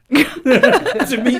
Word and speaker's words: Toomey: 2nd was Chris Olby, and the winner last week Carl was Toomey's not a name, that's a command. It's spelled differently.